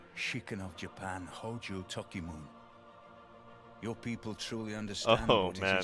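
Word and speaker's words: Tokimune: but it's salad right no it's Toki moon in that that E is actually pronounced so I already have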